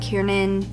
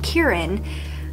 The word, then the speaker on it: Kieran: forgot to mention that kierin God I keep saying his name wrong Kieran mentioned earlier that he